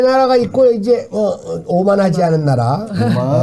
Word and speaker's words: 오만: 이 네 나라가 있고, 이제, 오만하지 않은 나라. 오만이 있는데, 이걸 만오라고 읽는 사람들이 있대요. 위에부터. 이렇게 오만.